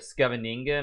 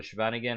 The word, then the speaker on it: Scheveningen: or 1900, I actually played the Scheveningen or the Scheveningen, however you want to pronounce it, with pawn to e6.